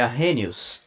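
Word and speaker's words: Arrhenius: vamos lá ah r Não é assim que se pronuncia tá é a renius a renius é o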